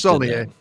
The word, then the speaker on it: Saulnier: And actually, I don't know if it's pronounced that way or not. It's Saulnier.